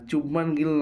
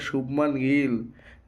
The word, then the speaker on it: শুভমান গিল: ঠিক আছে, আর চুবমান গিল নয়, ওটা শুভমান গিল, যশস্বী যশস্বী জয়সওয়াল।